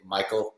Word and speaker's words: Machiel: I'm going to say Michael, because it's the American way to say his name, but I've been following him for a while, and yeah, it's such an intriguing story.